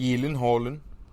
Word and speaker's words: Gyllenhaal: right jake gyllenhaal yeah what's the right pronunciation elon holland are you serious yeah oh he even said so so well suck